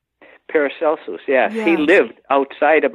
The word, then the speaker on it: Paracelsus: are just overwhelming Jung spoke and lectured on paracelsus is that how it's pronounced paracelsus yeah he lived outside of Minefield on a